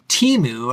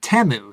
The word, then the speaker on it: Temu: of website that I had been calling Teemu up until the Super Bowl when they ran their ad and everybody on the ads pronounced it temu so whichever you prefer uh tmu if you